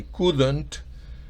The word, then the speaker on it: couldn't: En el caso del pasado de can, recuerde la L no se pronuncia. Es I could not, I couldn't.